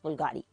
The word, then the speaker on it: Bvlgari: मतलब इस लिखा BVLGARI होता है, लेकिन प्रोनाउंस करना जरा औखा होता है, बट इट्स प्रोनाउंस बुल्गारी.